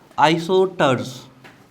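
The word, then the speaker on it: isosters: Next heading डालिए, आइसोटर्स। S silent रहता है इसमें।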